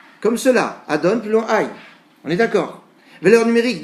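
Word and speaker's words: Adonai: Mais on le prononce comme cela, Adon plus long Aïe.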